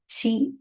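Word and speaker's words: ち: Why is it chi and not t? We don't have a ti pronunciation in Japanese. Only chi pronunciation is there. In the vocabularies, we don't use ti. Only chi sound is there.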